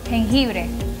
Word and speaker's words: jengibre: Ahora, eso me vas a ayudar porque tengo un problema a veces para pronunciar. Ajá, ¿cómo lo dice en español? Jengibre.